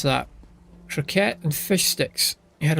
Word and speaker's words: croquette: How would you pronounce that? Croquette and fish sticks.